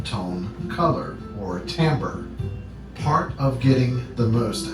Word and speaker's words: timbre: being the same thing and that tamper is pronounced tamper it is interesting that we use the word